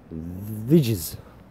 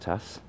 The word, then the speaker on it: Thijs: Vidges. But it's pronounced Tass.